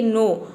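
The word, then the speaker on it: know: pronunciation होता है क तो देख सकते हैं नो में क का साउंड कहीं पे भी नहीं है यहां पे केवल एन ओ डब् को हम प्रोनाउंस करते हैं नो मतलब कि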